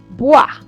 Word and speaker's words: bois: Then we have o and e. That to be pronounced like wa in water, which will give bois, wood.